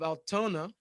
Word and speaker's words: Altoona: George, Utah, Chabad of South Shore, Boston, Chabad of Altoona. Altoona? I've never been to Altoona neither. But tuna rhymes with the Muna.